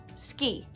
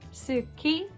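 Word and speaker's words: 好き: ski ski means like it's written Suki but it's pronounced ski because the U is coming between two consonants an S and A K Suki ski okay I hope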